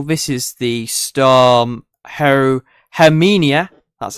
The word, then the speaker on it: Herminia: there's the low this is the storm her hermenia that's how you say it 32 likes wow